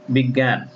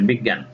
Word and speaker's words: বিজ্ঞান: শব্দের মাঝখানে থাকলে গ হসন্ত গ চন্দ্রবিন্দু এর মতো হবে। শব্দের মাঝখানে যদি এই জ ইয় শব্দটি থাকে তাহলে এর উচ্চারণ হবে গ হসন্ত গ চন্দ্রবিন্দু এর মতো। যেমন বিজ্ঞান, এখানে দেখো শব্দের মাঝখানে